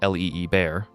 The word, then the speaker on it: Liebherr: Liebherr, pronounced l i e bear, is still owned by the founding family.